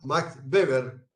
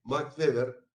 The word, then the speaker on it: Max Weber: Weber, o en alemán Max Weber. En alemán la W se pronuncia como V, Max Weber.